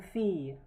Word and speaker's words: fille: Again, I remember you that the double L here is pronounced as ye. C'est une fille, c'est un enfant, c'est un enfant.